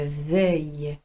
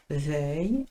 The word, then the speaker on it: veuille: verbe vouloir là encore je tiens à rappeler la différence au niveau de la prononciation valoir c'est il faut que je vaille euh vouloir c'est il faut que je veuille veuille vaille différent h il y a